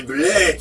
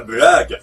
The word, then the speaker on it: Blake: Ah, c'est Blake et Mortimer, et pas Black. Pourquoi tout le monde dit Black? Je suis le seul à prononcer correctement.